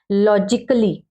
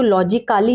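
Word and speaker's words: logically: practice भी हो जाए नेक्स्ट है लॉजिकली आप कहेंगे तो ए ही रहा है लेकिन इसका जो है इसको हम कैसे पढ़ेंगे इसको लॉजिक काली नहीं पड़ेगी संगीत की दृष्टि फिजिकल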